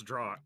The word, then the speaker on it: draught: it's a droft. I think is how you properly pronounce A it. draught? Yeah, that's right. That's a draught. Yeah. It's draught. And it's draw. Over here we pronounce it draft.